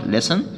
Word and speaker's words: listen: music يستمع إلى الموسيقى، listen والتي هنا طبعا silent، exercise يتدرب ويتمرن، exercise، do homework، do homework يعمل الواجب المنزلي، use the pen يستخدم سلة المهملات.